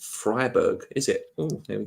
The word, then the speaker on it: Freiburg: It's pronounced Freiburg, is it?